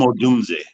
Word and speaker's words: Odunze: How do you pronounce his name? Dunze. I have a hard time. Sure, Rome Odunze.